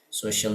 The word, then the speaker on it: social: Social media cara bacanya social. Jadi sh-nya agak tebal ya.